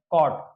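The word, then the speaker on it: caught: यहां पर हम देखेंगे शब्द के अंत में यजीएच या यूजी एसटी में यू हमेशा साइलेंट होता है यहां पर हम इसका एग्जांपल देखेंगे यहां पर लिखा लिखा हुआ है कॉट कॉट का मतलब होता है पकड़ा तो यहां पर हम यू जो होगा साइलेंट होगा यहां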